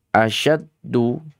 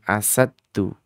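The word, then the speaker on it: أَشَدُّ: Asyaddu a-nya syiddah lagi syinnya adalah tafasyi. Syaddu. Asyaddu bukan asaddu ya. Bukan asaddu tapi asyaddu. Huruf syin di sini e dibacanya makhrajnya pada lidah dan di lidah bagian tengah.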